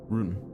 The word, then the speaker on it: Rune: It's Rune. Oh. Like run, spelled like run, but run. Rune.